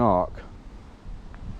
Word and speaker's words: ARCC: be dealt with as swiftly as Brompton and ARC. ARC is spelled ARCC.